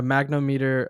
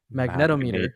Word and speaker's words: magnetometer: It has eye tracking, so it has an accelerometer, has gyroscope, and a magnometer, a magnetic. How do you say that? Magnetometer, magnetometer sensor.